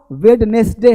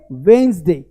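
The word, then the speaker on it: Wednesday: हैं आज वेडनेसडे है, अरे वेडनेसडे नहीं, क्या लिखेंगे, वेंसडे, वेंसडे, क्या बोलेंगे, वेंसडे, वेंसडे, वेंसडे मतलब बुधवार, ये हुआ वेडनेसडे, भाई साहब वेडनेसडे नहीं, ओ माय गॉड गलत है, ये वेंसडे होता है, वेंसडे, वेंसडे, देखो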